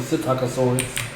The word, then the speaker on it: Psittacosaurus: Because I said Patacosaurus and Psittacosaurus. So with the S and not the P, P is silent.